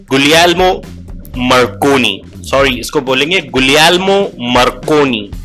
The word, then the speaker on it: Guglielmo Marconi: James clerk Maxwell, Heinrich hertz, गुलियल्मो मार्कोनी, sorry इसको बोलेंगे गुलियल्मो मार्कोनी, ये इटालियन थे।